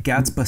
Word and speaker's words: Gatsby 7: He is also known as Gatsby 7. Am I saying that right? Gatsby 7? Gatsby. Oh, Gatsby. Right. Yeah, so it is Gatsby. Yeah, the 7 is silent, of course.